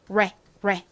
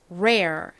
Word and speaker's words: rare: 되죠 한국식으로는 이렇게 적지만 L이 아니라과 모음이 합쳐졌기 때문에 그냥 레가 아닌 rare rare 이렇게 발음이납니다 따라해 보세요 rare rare